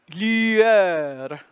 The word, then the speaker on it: lueur: We've got the French U, lueur, that open E-U-R, and S again, the S is silent.